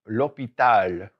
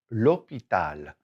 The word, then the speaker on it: l'hôpital: So first of all is the hospital, and it's this one, l'hôpital, l'hôpital. hospital, and it's this one, l'hôpital, l'hôpital. Notice that this is L apostrophe because H is treated like a vowel.